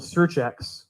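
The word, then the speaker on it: SearX: can use this tool it's called searchx that's spelled s-e-a-r-x search x and there's anyone can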